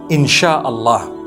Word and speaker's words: InshaAllah: as when people read it they read it inshallah because a transliteration means nothing it just it